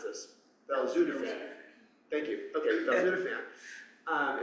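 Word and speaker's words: belzutifan: Um so uh how do we pronounce this? Beludapan thank you.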